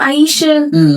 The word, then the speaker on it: Ayesha: Ayesha Curry, is that how you say her name? Ayesha?